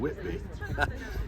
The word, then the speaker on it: Whitby: Geo Rambles here in Whitby or to give its local pronunciation Whitby here in North Yorkshire